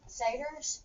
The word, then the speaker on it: satyrs: The arts and crafts room, where how do we pronounce that? Satyrs? Satyrs, I think.